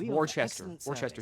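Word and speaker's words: Worcestershire: had just the sauce itself say it's name Worchester Shire say that again War Chester sh well as a Discerning customer like yourself will doubtless appreciate it's pronounced warchest Wester s SAU at a fair price ripen quits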